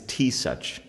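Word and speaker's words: Taoiseach: president that's basically it it's T such you know yeah t such but it's spelled te o a i ee i oh pound pound @ sign at sinai a all vowels for like nine spaces than an s and then nine more vowels and then other consonants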